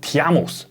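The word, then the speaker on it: Τίμαιος: 录，古希腊语念作 Tiamos 蒂迈欧斯。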